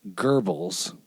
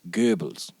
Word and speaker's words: Goebbels: And so it's like the name that most Americans mispronounce as Goebbels, right? It's not how you say it. It's spelled in Romanized English. It's G-O-E, B-B whatever. The O-E means that originally it was one character, which was an O with an umlaut, and that's Goebbels, right?